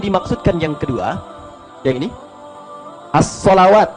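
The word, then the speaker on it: الصلوات: Kalau yang dimaksudkan yang kedua, yang ini, as-salawat bacaannya. Alif, lam, sod, lam, waw, alif, ta, maftuhah. As-salawat dibacanya.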